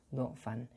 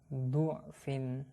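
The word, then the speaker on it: ضعف: Oke, anak-anak, bisa kita lihat di sini di poin 30 ada pelajaran bahwa huruf dot pada lafadz do'fan ini boleh dibaca fathah maupun dhammah.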